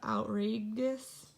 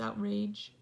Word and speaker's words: outrageous: It has a E-O-U-S ending because it wants that G to say a soft G. So instead of outrageous, it's outrageous. So that E has to stay there.